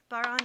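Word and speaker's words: bodhrán: isn't an irish drum it's called a baron baron is spelled b-o-d-h-r-a-n and it's made out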